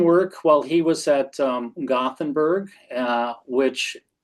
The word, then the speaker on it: Göteborg: Then he did some work while he was at Gothenburg, which, having studied Swedish, I'll pronounce it the Swedish way, Göteborg, a nice town in Sweden on the southwest coast.